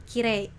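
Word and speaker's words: きれい: Cantik ya dalam bahasa Jepangnya itu kirei. Nah kenapa nggak kirei tapi kire?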